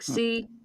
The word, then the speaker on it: chlorosis: It's like CHLOROSIS, chlorosis. I think that's how it's pronounced.